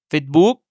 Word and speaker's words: Facebook: Ainsi, Facebook devient Facebook, le bureau office devient a fit, cake devient cake.